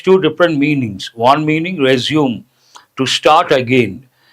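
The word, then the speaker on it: résumé: One meaning, resume, to start again. But another word, actual pronunciation, a French word, resume, all about yourself in brief.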